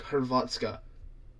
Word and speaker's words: Hrvatska: We call it Croatia in English, but how they say it in I forgot what language they speak. Croatian. No. It's whatever. They call it like Hrvatska.